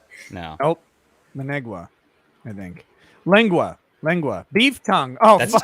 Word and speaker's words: lengua: I don't know what Lenegua is.